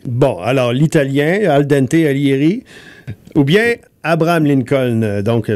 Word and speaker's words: Alighieri: Alors, lui, il s'appelle Alighieri. Je sais pas si je prononce le G dans ce cas-ci parce qu'il y a un I avant.